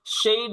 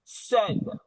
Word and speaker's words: said: இது said அல்ல, shade அல்ல, said.